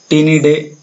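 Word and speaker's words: Ptinidae: Store beetle, स्टेगोबियम पेनिसियम और टीनिडे होता है इसका, पी साइलेंट इसमें नाम।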